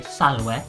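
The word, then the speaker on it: salve: say hello to someone in latin you'd say salwe or sanguette if it's several people goodbye is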